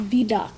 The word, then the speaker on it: Vidocq: Now, we talked earlier briefly about the VDOC Society. That's spelled VIDOCQ.